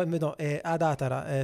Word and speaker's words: Adatara: perché ho deciso tra adara adara Però ad datara semplicemente i giapponesi la pronunciano così anche se ignoro totalmente